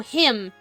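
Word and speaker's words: hymn: Oh, him. Okay, it's pronounced him.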